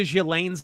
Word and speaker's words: Ghislaine: By the way, as a total aside, could we add a few more letters to Ghislaine's name that we aren't supposed to pronounce? Like half this woman's name is fucking silent.